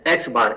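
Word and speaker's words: x̄: आप देख रहे हैं ब्रैकेट में लिखा हुआ है प्रोनाउंस्ड एज एक्स बार, एक्स के ऊपर जो डंडी लगी हुई है आड़ी, उसे हम बार पढ़ते हैं।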